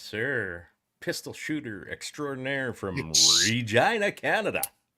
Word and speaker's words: Regina: The city that rhymes with... That's overdone now, isn't it? It is, yeah. It's but just still kind of fun to say. Once the city temporarily embraced the whole Regina vagina thing for about 5 minutes,